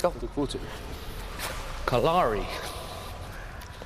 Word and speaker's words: Kalari: Kalari. It's actually pronounced Kalari. Kalari. Like the way you write color.